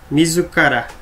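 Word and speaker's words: 自ら: Esse na pronúncia on se chama ji, na pronúncia kun, mizukara, né?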